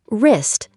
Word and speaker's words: wrist: Wrist. Say wrist. Wrong. Say wrong. Right. Say right. When W comes before R, don't pronounce the W. Just ignore it.